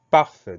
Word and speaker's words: parfait: Deux syllabes. Première syllabe par, P-A-R. Deuxième syllabe fait, F-A-I-T. Donc on a le son E qui s'écrit A-I. On a une lettre muette à la fin, c'est le T.